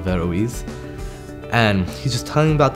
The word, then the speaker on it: Averroes: to hear about this school called everest which i later learned was actually pronounced the veroise and he's just talking